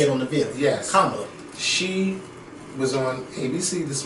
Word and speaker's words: Kamala: Kamala. Because she taught us how to say it on the video. Yes. Kamala.